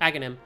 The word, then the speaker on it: Aghanim: Aghanim, is that it? Yep, Aghanim. It's the H. There's like Aghanim and Sahasrara have weird H's in places you're not supposed to pronounce them.